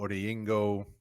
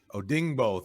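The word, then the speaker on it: Odeyingbo: across from k witty pay you've got deo odingo i'm sorry i butchered his name taekwon lewis oh dingbo thank you they've got plenty of defensive ends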